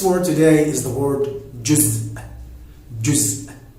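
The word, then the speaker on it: جزء: Our next word today is the word juz. Juz. It's somehow maybe hard to pronounce this word, because you would have a little stop at the end of the word, but when you book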